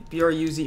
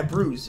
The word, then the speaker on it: Bruz: B-R-U-Z, right? Mm-hmm. Yeah, so I don't know if it'd be considered a bruise, so to me... No, B-R-U-Z. Yeah, bruise, but bruise is spelled B-R-U-I-S-E. That's bruise.